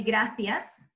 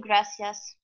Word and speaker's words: gracias: and Spain is that in Spain the letter C and the letter Z or Zed are pronounced so it's a person from Spain would say gracias and I'm trying to